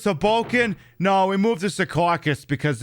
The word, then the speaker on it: Secaucus: No, we moved to Secaucus because it's a funnier name. Or as I'm supposed to be pronouncing it, Secaucus.